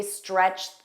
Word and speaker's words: stretched: And notice that pronunciation, because we have stretched that ends in a T sound, that ED is pronounced as T, but then thin begins